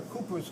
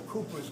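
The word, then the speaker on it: Cowper's: think these are the cus glands or bulbo urethal glands that's another name of the uh bulbo urethal glands are the coas glands which is spelled c WP R apostrophe s in other words you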